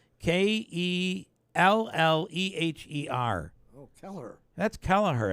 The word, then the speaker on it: Kelleher: Downsville area called Keeler it used to be keeler's Auction House spelled k-e-l-l-e-h-e-r oh Keller that's Kelleher it's not keelers how